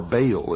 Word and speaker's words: Baal: the ancient worship of Baal our bail is some pronounce it ma was the Sun